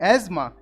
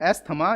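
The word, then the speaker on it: asthma: अब देखते हैं एज़मा, एज़मा सही उच्चारण है, जिसको आमतौर पर एस्थमा या अस्थमा भी बोलते हैं, तो करेक्ट प्रोनाउंसिएशन है एज़मा।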